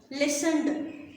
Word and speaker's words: listened: Amazed, listened, listened. Now I'm not reading this T because this is silent.